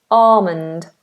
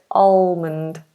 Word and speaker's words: almond: very popular almond butter but the British English pronunciation of this word makes this L silent we just have a long r at the beginning Armond Armond rather than almond so British is alond American almond okay okay I'm just going